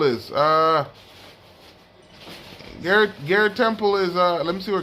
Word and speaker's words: Garrett Temple: Let me see where Gary Temple is. Garrett Temple is, let me see where Garrett Temple is.